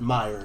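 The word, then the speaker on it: Maier: terrible enunciation the town my ear is not pronounced is not spelled m-y-e-a-r like i am saying it is m-a-i-e-r those of you of uh german bent might pronounce that meyer if you were correct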